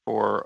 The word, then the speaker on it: Pfoh: uh to have both Henry Wall and Margaret Fo here uh today.